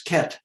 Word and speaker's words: ket: beta are complex numbers we pronounce the vector 0 with the brackets around it as ket zero ket is the suffix of brockette which is what dirac called as notation and ket 0 represents